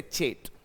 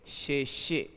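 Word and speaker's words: sachet: I read this word तो मैं अपने हिसाब से एक प्रोनंसिएशन जनरेट करूंगा से चैट बट इट इज not like that S ए सी एच ई टी का जो प्रोनंसिएशन है वो है शेषे शेषे शेषे का मतलब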